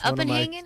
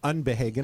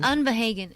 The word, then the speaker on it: Unbehagen: That's Uppenhagen? Is that how you say it? Unbehagen. Unbehagen. Every time I try to think I'm going to say it, I think I'll butcher it. Obviously, that's German. It is Unbehagen.